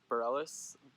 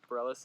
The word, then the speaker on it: Bareilles: song Uncharted by Sara Bareilles Bareilles I'm pretty sure is how you pronounce it it's very much about